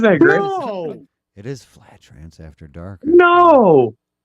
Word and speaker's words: Fladge: It's pronounced Fladge.